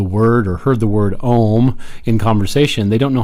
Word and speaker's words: Om: in this section so where there are three distinct sounds there's the a sound as an about which is like an aw there's an you sound such as an uber ooh and then as we finish up the room sound is like mmm so again Oh three